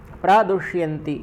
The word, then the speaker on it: प्रदुष्यन्ति: और साथ में आपका जो मूर्धन्य षकार है उसका उच्चारण भी सटीक हो जाए, उस दृष्टि को रखते हुए भी प्रदुष्यन्ति सही रहेगा।